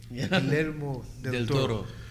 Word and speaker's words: Guillermo del Toro: It's just beautiful pieces of art, and the first two Hellboy movies যেটা করেছিল Guillermo del Toro, I can finally pronounce his name. Guillermo del Toro.